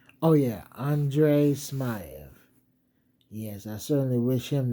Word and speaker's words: Andrey Smaev: Oh yeah, Andre Smay.